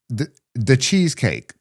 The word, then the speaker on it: DaChezKake: This is from the Cheesecake. Pronounced like the cheesecake. Yeah. On Discord. It's cool. It's spelled DACHEZKAKE.